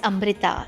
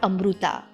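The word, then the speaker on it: अमृता: The name is Amrita, not Amruta.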